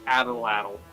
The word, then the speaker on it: atlatl: it's it's an aztec weapon yeah but it's pronounced atlatl i mean possible you can make one